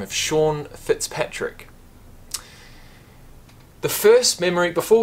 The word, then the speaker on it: Sean: That's seen. That's not Sean, that's seen. And that will always stick in my mind. Because ever since then, I've realised that S-E-A-N is actually pronounced Sean.